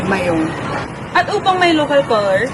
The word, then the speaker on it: Mayon: Mayon bagong lahat tawagin natin ang bulkan sa tunay niyang pangalan na Mayon Pinalitan ng mga Kastila sa Mayon Kasi hindi nila kaya sabihin yung letra G sa mga Amerikano naman ang pinakamalapit na pronunciation dito ay mayonnaise pero kahit ganon alam naming mga Bicolano na ang pangalan ng bulkan ay mayong at upang may local